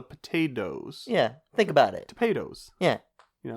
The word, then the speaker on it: Topadoes: Topados. Yeah. You know? You're always pronouncing it with the D.